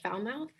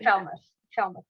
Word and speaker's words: Falmouth: distinct identity of west foul mouth um i never looked at the other parts of foul mouse that way i'm not sure if i'm pronouncing that correctly but yeah they say falmouth we see yourself yeah